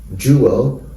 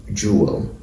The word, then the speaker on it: jewel: you want to get a more um colive pronunciation you can say jeel or duel jeel or duel jeel duel in American English duel and finally Jewel